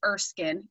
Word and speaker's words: Erskine: erskine green training institute we hear that erskine pronounced a variety of different ways so it is erskine green training institute for short we refer